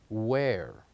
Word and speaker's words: where: the word where so the silent letter of the word where as letter h so here we go and we Circle letter h letter H we write it yes but we don't say it we don't say it we say where now let's move on